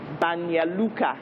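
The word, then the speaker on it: Banja Luka: so you had to pronounce names like banya lucca which was spelt banja luca and you know names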